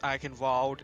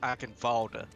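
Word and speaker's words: Eichenwalde: the map it's not like it's not actually pronounced i can vault is i can folder okay i'll be watching over you i forgot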